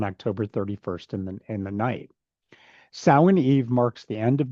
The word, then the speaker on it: Samhain: Samhain is pronounced like Samhain or Samhain. The reason it is pronounced so different than it is spelled is because the word is actually Irish Gaelic, which uses the English alphabet but has drastically different pronunciations.